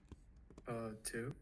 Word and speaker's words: tu: Alors, tu, le U, on le prononce comme si on veut dire I. And I'll explain it in English so that way you pronounce the U correctly. So basically, the U in French, which doesn't exist in English, you pronounce an I. You try to pronounce an I, but you put your lips together. And that way, it's going to be U.